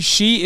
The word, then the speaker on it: Xi: ping till I come I mean she is the correct way to say it isn't it Xi Jinping stop